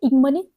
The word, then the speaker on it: ignominy: इग्नोमनी, वैसे इसको इग्नोमनी भी बोलते हैं, कुछ लोग इसको इग्नोमनी भी बोल सकते हैं। ओके, तो इस तरह से होता है। वैसे इसका करेक्ट प्रोनाउंसिएशन है इग्नोमनी।